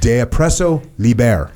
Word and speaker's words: De oppresso liber: that others may live, de oppresso liber. How do you say that? I can't believe I can't say that. De oppresso liber. Is that right? I think you got it right.